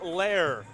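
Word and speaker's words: Loehr: was pretty darn good trace lair pronounced correctly and everything must have been given a bit of a tip because i would not have been able to get lair out of l-o-e-h-r but pretty impressive nonetheless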